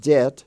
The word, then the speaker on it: debt: debt i owe money it's pronounced debt d-e-t but it's spelled d-e-b-t or as in the